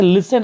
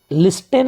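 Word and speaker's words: listen: silent कर देते हैं जैसे लिसन आप लिखते हैं लिसन लिस्टेन नहीं पढ़ते हैं यहां टी का उच्चारण नहीं होता है तो यहां ग्लिसन का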